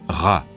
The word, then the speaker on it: Ra: du soleil et champolon sa qu'en copte il se prononce RA en bas une lettre